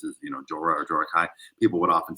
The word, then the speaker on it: Jorah Kai: Jorah Kai, uh, introduce yourself. Did I pronounce that right?